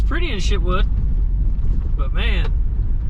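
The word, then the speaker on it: Chitwood: But if you stayed in Shitwood Hollow, I'll say it's pretty in Shitwood, but man, it's a hell of a name. I guess that's how you pronounce it.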